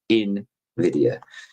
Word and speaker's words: Nvidia: I learned to say it the right way. I've been saying it wrong for a few years. Invidia.